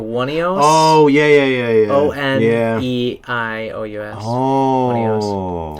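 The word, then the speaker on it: Oneiros: It's not Oberon. It's like Onios or Wonios.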